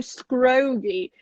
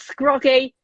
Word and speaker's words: Scroggie: right as well because people go scroggy and it's like it's not it's scroggy it's common i'm not